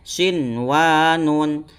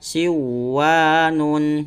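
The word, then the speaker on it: صنوان: Cara membacanya sinwanun, jangan sampai dibaca siwanun gitu ya teman-teman.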